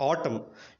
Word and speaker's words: autumn: సో ఇక్కడ అన్ని సందర్భాల్లో మరి గమనించినట్టయితే ఎం తర్వాత ఎన్ ఉంది కానీ దాన్ని మనం ఏం చేయలేదు, ప్రొనౌన్స్ చేయలేదు.